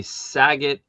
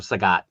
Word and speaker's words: Sagat: Um the saget or sagat, sorry.